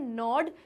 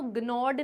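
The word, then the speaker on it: gnaw: ये जो वर्ड है नॉड, जिसमें जो ये जी है वो साइलेंट है, यानी जी स्पेलिंग में तो आएगा लेकिन जब हम बोलेंगे तो ग्नॉड नहीं बोलेंगे, नॉड कहेंगे, और इसका मतलब होता है कुतरना।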